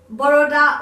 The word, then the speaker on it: Baroda: And to be specific, I'm from a place called Baroda or Vorodra, however you want to pronounce it.